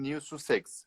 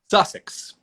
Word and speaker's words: Sussex: conducting new jersey and new sex is that how you pro pronounce the sushi or sussex sussex it sounds like an english town or something yeah yeah